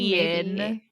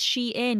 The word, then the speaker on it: Shein: Like a hidden like brainwashing Sheen sponsorship, like Sheen. 20 years in the making. No, Shine. It's pronounced Shein because it used to be something longer.